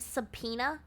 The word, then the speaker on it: subpoena: Because why does it sound like that? English is such a shitty language, right? Like, subpoena, that's how you say that.